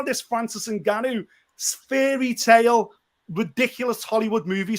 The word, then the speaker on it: Ngannou: But you've just mentioned this gentleman here who's sorry, how do you pronounce his name? Ngannou.